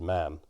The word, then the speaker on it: Mann: to montague so in in current uk pronunciation it is man but um obviously it comes from the viking originally version for it amazemon it's in game it's mon yeah again as i've